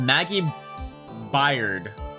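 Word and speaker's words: Maggey Byrd: Court is now in session for the trial of Maggie Bird. By how do you pronounce that? Pirid bird. Maggie bird. Yeah, bird as in animal bird.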